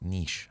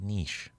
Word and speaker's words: niche: I don't like saying it like niche. I like niche. We spell it differently.